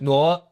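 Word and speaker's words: Ngô: Like Nudin Yem, how you say his name is Noah, because I know this because my mom's maiden name was Noah. NGO.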